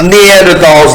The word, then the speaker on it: Neanderthal: Some Neanderthals like Nathan are not able to. It's pronounced Neanderthal.